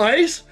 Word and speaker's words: ICE: Icy and Daemons, or Ice, Intruder countermeasures pronounced as ICE, and AI personas can attack demons, utility AI, programs, and malware.